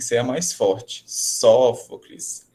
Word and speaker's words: Sófocles: Alternativa A, Sófocles, tá? B, Ésquilo, são palavras aí, gente, paroxítonas, né? Então, prestando atenção no acento, ele vem na antepenúltima sílaba, então ela tem que ser a mais forte. Sófocles, Ésquilo, né?